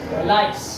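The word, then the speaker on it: lice: लाइस। आप लोग जो लीस बोल रहे हैं वो गलत उच्चारण है।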